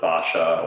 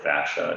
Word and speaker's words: fascia: is this idea of the fascia or the fascia, depending on how you pronounce it.